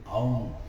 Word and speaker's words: ओम: ओम में 3 ही अक्षर हैं, आ उ मा। ओम, इसको ओम बोलते हैं।